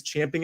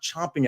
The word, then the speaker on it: champing: By the way, it is champing at the bit, not chomping at the bit. Tuck that away. Take it with you. The proper way is champing. That's also how it's spelled.